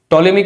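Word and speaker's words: Ptolemy: उसके बाद टॉलेमी करके एक इंसान था, यहाँ पे पीस साइलेंट है, उसने एक छोटा सा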